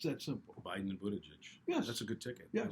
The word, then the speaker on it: Buttigieg: And they're all at federal positions except Buttigieg.